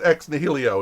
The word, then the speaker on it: Ex Nihilo: Is it Ex Nihilo or is it Ex Nihilo? You had it right the first time. It's Uh, ex nihilo. it's Ex Nihilo. Okay, Ex Nihilo. I like Ex Nihilo better anyway.